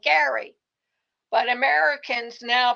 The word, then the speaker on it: Gerry: Although the pronunciation just changed over time, Jerry's name is now pronounced like Gary, but Americans now pronounce the word bearing his name like Jerry.